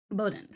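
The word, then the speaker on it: Bowdoin: I'm Bowden College. Bowden College.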